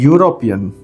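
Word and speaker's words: European: हैं आ वैसे ही और एक वर्ड है यूरोपियन य आर ओ पीई ए एन देखिए यह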